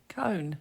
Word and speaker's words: cone: is pronounced con but if i put an e on the end you say cone so the o has transformed now this happens quite